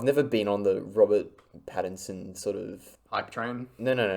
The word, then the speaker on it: Pattinson: I think I've never been on the Robert Pattinson sort of hype train.